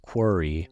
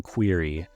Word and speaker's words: quarry: lot more satisfying also I learned it's pronounced quiry rather than query so I now should